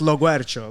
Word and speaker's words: Loguercio: So our last name is pronounced Loguercio.